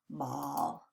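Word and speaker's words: bawl: Not like the ball that you throw. B-A-W-L, ah, ball.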